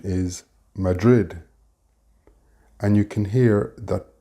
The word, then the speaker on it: Madrid: In English, the pronunciation is Madrid, and you can hear that both D sounds are pronounced strongly, and particularly the last one.